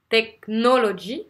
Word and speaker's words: technology: Par exemple, vous avez le mot technology, technology, technology. Vous voyez, le dernier, on l'entend presque pas. Technology.